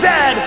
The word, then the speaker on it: Zed: A toque is a hat, a Chesterfield is a coat, and it is pronounced Zed, not Z-Z.